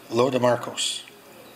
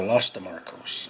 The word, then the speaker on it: Lo de Marcos: So that is Lo de Marcos, or Los de Marcos, depending on where you're from and how you say it.